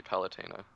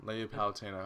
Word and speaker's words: Palutena: to say it for me it's a lady palutena palutena okay i was close but i wanted to